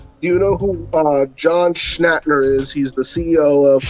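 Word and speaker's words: John Schnatter: Do you know who uh John Schnhater is?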